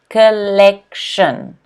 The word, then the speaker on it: collection: is collection collection okay notice the stress here is on the second syllable so it's collection collection can everyone say collection